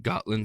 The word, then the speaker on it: Gotland: Kylver stone, k y l v e r stone, found in Gotland, Sweden Sweden or Goatland, Sweden. Uh it's it's like a it's spelled like the Got Milk commercial, but Gotland.